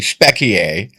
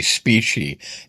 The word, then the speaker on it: specie: And that was the final remaining link between the dollar and what is called, I say specie. That's the Latin pronunciation. Americans would say specie, S-P-E-C-I-E, specie.